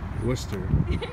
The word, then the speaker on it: Worcester: police in the person I try to butcher the name again Wooster Wooster you